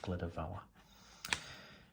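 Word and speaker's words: Glyder Fawr: I think that's pronounced Glida Vawr.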